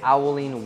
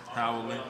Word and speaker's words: howling: The concept that we're gonna be using is an owling wolf. That's how you pronounce it, right? An owling wolf. Owling. Howling.